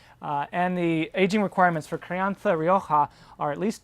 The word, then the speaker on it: crianza: The next category, classification in terms of age, is called crianza, or if you're Spanish, you pronounce it crianza.